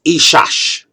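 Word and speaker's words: אִשָּׁה: In Hebrew, the original language of the Old Testament, the rough pronunciation for man is ish, and woman is ishash. See, man, woman, ish, ishash.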